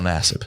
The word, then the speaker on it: Nassib: Also, how do you pronounce Carl Nassib? Carl Nassib. That's right.